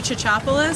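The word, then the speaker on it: Tsitsopoulos: this time good evening my name is chachopolis spelled k-a-s-s-a-n-d-r-a last name t-s-i-t-s-o-p-o-u-l-o-s I'm a 17-year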